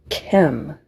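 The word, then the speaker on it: Kem: It's pronounced chem like chemtrails.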